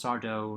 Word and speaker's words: Sardo: he says the whole it's sardo no mr accent on the dough he realizes there's no